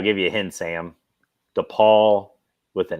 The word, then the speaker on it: DePaul: that's not the poll the ball the other DePaul is that how it's pronounced yeah yeah it's the ball with a